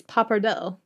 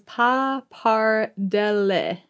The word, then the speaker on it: pappardelle: It's pappardelle. And this pronunciation says pappardelle. Oh, right. Pappardelle.